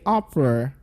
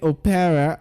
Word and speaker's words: opera: Also, when you have the word opera, can I hear you say opera? Okay. Now, most people say opera, but that's wrong. It goes opera.